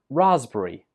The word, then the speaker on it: raspberry: 17 also has a silent letter. The P letter is not pronounced. This word is pronounced raspberry. Raspberry. 3 syllables. Raspberry.